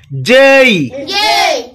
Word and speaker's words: J: এইচ আই আই আই জেই জেই জেই এটাকে আমরা সাধারণত জে বলে থাকি, এটা ইংরেজরা জেই বলে থাকে।